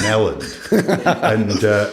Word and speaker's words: Elland: And I was like, no, actually, the H isn't, the silent H isn't on that one. That's just Elland.